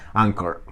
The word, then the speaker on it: anchor: se llama anchor o Encore bueno depende como lo pronuncien ancho con a En todo caso ch ankor esa es una palabra